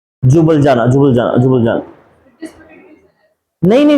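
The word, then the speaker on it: Ljubljana: silent है jubilee jubilee ये क्या है एल वो होगा एल नहीं प्रोनाउंस करेंगे हां जुबल जाना जुबलजाना जुबल जाना नहीं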